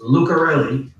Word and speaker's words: Lucarelli: It is pronounced Lucarelli. And I know you got plenty of Italians up there where you guys come from, so it shouldn't be that hard.